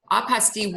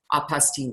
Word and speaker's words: apostille: They facilitate apostille work. And by the way, apostille looks like apostille, but it's a French word, so we just don't pronounce that ending.